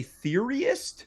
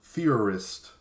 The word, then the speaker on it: theorist: theorist Alex Jones hold on did you say theoriest theorist did I not say that you pronounce it very phonetically what did I say first you said Theory arrest then you went furorist okay let me try